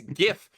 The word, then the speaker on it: GIF: for the record however it is GIF with a hard G what's the difference one